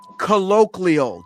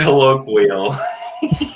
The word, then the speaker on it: colloquial: think about it colloial. Do you know the word colloial? I don't think you do because you just said it wrong. It's colloquial.